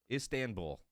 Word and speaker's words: Istanbul: Istanbul.